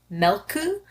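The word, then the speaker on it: Mölkky: this one's called um it's pronounced melku but it's actually spelled m-o-l-k-k-y oh okay now I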